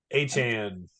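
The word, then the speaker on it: Achane: It's um Achan?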